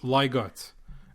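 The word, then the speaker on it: leg godt: second word is g o DT but it's pronounced in Danish liot and that means play well Lego also means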